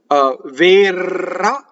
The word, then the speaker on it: verrà: So verrà, the accent is on the last syllable in this word, so the E is closed.